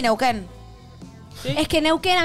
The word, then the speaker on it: Neuquén: Sí, pero la segunda U es como... No se pronuncia. Con, no se pronuncia, suena con la Q. Neuquén, la U no suena.